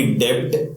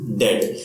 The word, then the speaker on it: debt: The pronunciation again same way, receipt में जैसे B silent है, इन डेट letter B is silent. So the pronunciation will not बी डेब्ट, the pronunciation will be डेट.